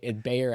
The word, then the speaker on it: Bayer: B it's aspirin well I was trying to pronounce it in the German German way but the everyone knows the B Bayer Aspirin yeah Bayer Aspirin and if you